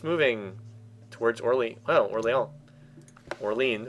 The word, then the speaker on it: Orléans: Orleans, or Orleans if I do the English pronunciation.